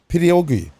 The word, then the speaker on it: pierogi: and some pierogies. Pierogies. I'm fucking a Latino, man. I can't say it. Pierogi? Well, how do you say it? Pierogi. Pidiogi.